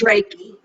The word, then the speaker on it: Reiki: how to pronounce this it's ray k center um is this roberta you're down there is did i say that correctly ray k it's reiki reiki oh i still haven't